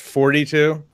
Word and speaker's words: Thoughty2: Lancaster England it's called it's spelled thoughty2 but it's pronounced forty-two and he does like just